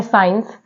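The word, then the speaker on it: science: letter है ऐसे ही word है साइंस साइंस में भी जो सी है वो साइलेंट है वर्ड है सीजर्स सीजर्स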